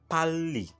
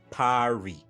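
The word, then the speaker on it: 빨리: For example, pali, pali, not pari, like Funke Akindele would say. So it should be pali, which literally translates to quickly.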